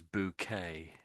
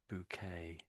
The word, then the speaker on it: bouquet: So that's sort of a French word. Is a French word and we say it as bouquet. Bouquet. Bouquet. Do you want to say it just to practice? Bouquet. Rosa, I can't hear you. Sorry. Uh, bouet. Bouet. Well, the first one was how most British people would say it, but I have heard occasionally some people say bouquet, but it's normally bouquet.